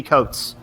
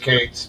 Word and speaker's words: Cates: Is it Cates or Coates? I think it's pronounced Cates.